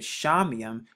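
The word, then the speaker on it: שמים: it has four characters the sean right here which makes the sh sound the mom which makes the m sound and then the yard to get the y sound and then the extra mom to get the other m sound so the double m so when you put it together you get shamim shamayam the next word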